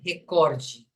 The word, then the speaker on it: recorde: Record sim mas em a pronúncia correta é recorde Ah tá entendi que